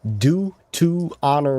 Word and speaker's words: Deuteronomy: You could say Deuteronomy. Deuteronomy. Deuteronomy Deut 25, 5 through 10. Say Deuteronomy. Say do to honor me.